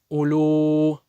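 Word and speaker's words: أُولُو: Вот это вау с такой капелькой, она не читается. Многие допускают ошибку и делают мад. Улю. У первую тянет. Не должен тянуть, это не мад, потому что это вау, как будто ее нету.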